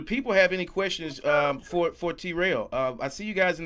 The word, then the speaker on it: T-Rell: And how do you pronounce? I keep saying T-Rell. Is it Terrell or T-Rell? T-Rell.